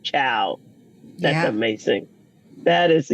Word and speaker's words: Chiao: year in Italy and Patty's last name is pronounced ciao that's amazing that is